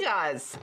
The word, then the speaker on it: gewgaws: Gigas. Gewgaws. Gewgaws. You guys. How's it pronounced? That would be gigas.